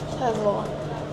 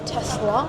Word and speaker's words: Tesla: Ford, Toyota, Mitsubishi, Tesla. Yeah, I say Tesla with a Z. I don't say Tesla, I say Tesla. Hear me? Tesla. That's how you say it. You don't say Tesla, you say Tesla.